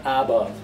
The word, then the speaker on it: above: The same problem arises with above. The a is not above, it's weak form, above.